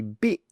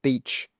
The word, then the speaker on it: beach: Next one, a lot of students pronounce beach as the word you can see here. Instead of saying B, they say bit, bit, with a short it sound, but it's not a bit, it should be B, beach.